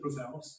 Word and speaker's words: Roselles: Ballard met with the principal, Lauren Roselles, is that how you pronounce it? Roselles.